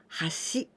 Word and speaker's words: 橋: But this kanji we can pronounce in kunyomi 橋.